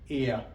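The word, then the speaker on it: ella: ही को हम लोग स्पेनिश में बोलते हैं एल और शी को हम लोग बोलते हैं एया, क्योंकि डबल एल वाई की तरह प्रोनाउंस होता है तो इसको एया बोलते हैं।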